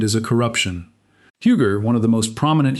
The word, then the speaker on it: Huger: Huger, one of the most prominent hugenot names in South Carolina history, is pronounced eugi with the French consonants dropped entirely.